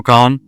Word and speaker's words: Khan: Shao Khan? Spell that for me, somebody.